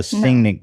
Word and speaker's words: singing: So you don't hit the G so hard. You go singing. Singing. Singing. Yeah. Singing. I don't know how to not hit that G. Running. Run, or no. Yeah, you're saying it right. Running. But it doesn't, yeah, but it doesn't have that second G.